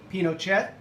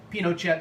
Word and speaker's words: Pinochet: allende presidency by pinochet you might hear pinochet being pronounced pinochet uh very common in north america and europe but i will kind of try to stick to the chilean pronunciation and this is also